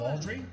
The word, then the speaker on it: Baldry: album for your work on a Long John Audrey yeah did I pronounce that right yeah Long John baldry uh he Long John baldry is quite a